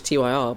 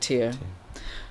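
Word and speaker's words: TYR: You know, last year I always thought it was Ty R, but apparently you do pronounce it tier.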